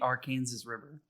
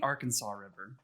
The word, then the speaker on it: Arkansas: The river in Kansas is the Arkansas River. It's not the Arkansas River.